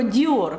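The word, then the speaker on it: Dior: але трішки трішки залишилося про Діор вам вже зрозуміліше чому літера R читається наприкінці хоч вона й приголосна А давайте наразі поговоримо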